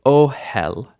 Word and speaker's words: ohel: babic in the singular two syllables right oh hell oh hell initial stress that's the second feature oh not ohel not